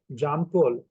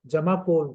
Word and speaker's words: Jamakkol: कैसे मैं आपको एडऑन जामा जाम कोल या जमाकोल जिसको सही प्रोनाउंस है जमाकोल टेक्निक के साथ और